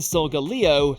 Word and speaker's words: Solgaleo: here today number 10 solgaleo and lunala so that's how you say it these two legendaries won't